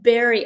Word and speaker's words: berry: So, it has a berry sound. Sounds like Barry, but even though the spelling doesn't give that away.